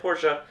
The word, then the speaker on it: Porsche: They said Porsche, so I will pronounce it that way.